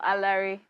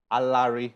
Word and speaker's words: Alaere: wow there are lyrics alert is how you pronounce this name right no a larry a larry okay i always said i will ask you